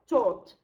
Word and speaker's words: taught: And we are associating the spelling AU with the sound O, like cot and August.